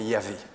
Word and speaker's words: Yahvé: Alors pour ceux qui le savent, le nom de Dieu dans la parole de Dieu, souvent c'est Yahvé. En tout cas, c'est comme ça qu'on le prononce.